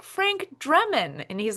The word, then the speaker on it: Drebin: Frank Dremon, Dremon, and has no clue that he's said it wrong. Like No he's clue. trying to do it from the Naked Gun, Frank Yeah. Drebin.